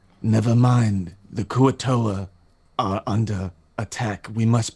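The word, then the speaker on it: kuo-toa: say what is it how do you pronounce it the kua toa right yeah okay wonderful and you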